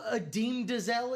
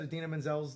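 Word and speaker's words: Idina Menzel: Oh, is that who Adim Dazelle is? The wickedly talented Adim Dazelle. Do you remember that? When John Travolta said Adina Menzel's name wrong at the Oscars?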